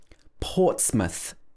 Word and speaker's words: Portsmouth: to make this sound it's not muff it should be muth portsmouth and number six is